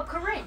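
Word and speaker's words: Kuhren: Oh, it's pronounced Karen. Karen? K-U-H-R-E-N. Karen? Karen. No, K-U-H-R-E-N. Karen. Oh, Corinne.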